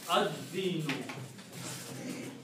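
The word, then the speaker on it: الدين: And this word is Ad-dinu.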